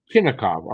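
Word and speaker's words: Chinakhov: Chinnikov.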